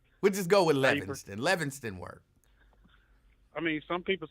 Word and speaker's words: Livingston: I mean, some people say Livingston. People who can't read say Livingston, but people who can read look at the letters and pronounce them the way that they're arranged.